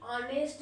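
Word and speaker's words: honest: जैसे कि ऑनेस्ट मैन, ऑनेस्ट, ऑनेस्ट, ओ, आप ऑनेस्ट लिख रहे हो ना, है ना, ऑनेस्ट, तो ओ यहाँ पे क्या है, ऑनेस्ट यहाँ पे वोवेल साउंड आ रहा है, यहाँ पे क्या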